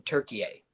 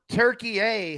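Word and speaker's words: Türkiye: They are going by the real correct pronunciation in Turkey A. That's been geopolitical talk. Nice job. So Turkey A has rebranded. Yeah, you can call it Turkey, but it's really Turkey A.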